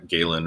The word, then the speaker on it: Galen: know like from uh galen is the way that most people pronounce it but as godlin um from galenic medicine and